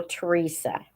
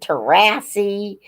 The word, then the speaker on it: Teresa: I've been called Terrasi and Theres and all kinds of weird things.